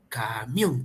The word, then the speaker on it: camión: mayor fuerza de voz Es camión o camión Ah entonces como es la o donde radica la mayor fuerza de voz Es en la o en la que tenemos